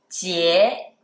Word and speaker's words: 节: And the last word with one character is 节, 节, second tone.